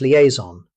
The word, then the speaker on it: liaison: Next comes liaison. This word comes from French, so the pronunciation may not match the spelling. Native speakers usually say liaison. Notice that the S sounds like a Z.